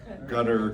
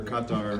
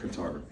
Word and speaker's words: Qatar: There's a debate about how to pronounce Qatar. But it doesn't rhyme with guitar. That's the wrong one. GUT-TER, KAH-TAR, but it doesn't, it can't rhyme with guitar.